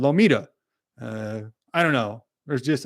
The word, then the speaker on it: Lometa: There's no other way that you would pronounce it. It's got M-A-T-A or M-E-T-A, right? Lometa, maybe, but it's called Lomita.